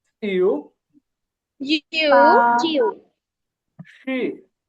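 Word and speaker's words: 七: Seven, seven এটা তো first tone, এটা হবে সি, সি এরকম। সি। হ্যাঁ আমরা বাংলায় অনেক সময় বলি না যে ছি ছি, তো এই যে স রস্ট ইকার যেটা অনেকটা সেরকম উচ্চারণ হবে, শুধু ফার্স্ট টোন একটু টান হবে, স্যার সি এরকম।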